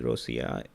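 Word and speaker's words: Ρωσία: The current name of the country, Rosia, come from Byzantine Greek destination of Rus, spelled Rosia, pronounced Rosia in modern Greek.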